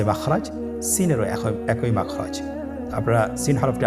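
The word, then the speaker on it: سين: Scene হরফটি বারিক হরফ পাতলা করে উচ্চারণ করতে হবে। তাহলে আমার সাথে বলুন সিন।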